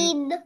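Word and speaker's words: ش: First, you have to say it like shh. Right? Then, Sheen.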